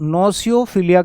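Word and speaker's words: gnosophilia: है ठीक है तो नोसो फिलिया कहते हैं इसको जी साइलेंट रखना नोस फिलिया ज्ञान से जो प्यार होता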